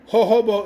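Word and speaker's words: jojoba: Do we really need this scene of where they discuss how "ho-ho-bo" is spelled with a J but pronounced "ho-ho-bo"? It's spelled "jojobo," pronounced "ho-ho-bo."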